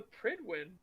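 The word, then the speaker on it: Prydwen: no one noticed why' he call it the pridwin I thought that's how it's pronounced in game is it oh my God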